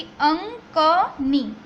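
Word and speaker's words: अङ्कनी: इसको कहा जाता है अंकनी, ठीक है। ये जो ड जैसा सिंबल है वो अ के ऊपर जैसे डॉट हो वैसे प्रोनाउंसिएशन करना है, यानी कि अंकनी, अंकनी।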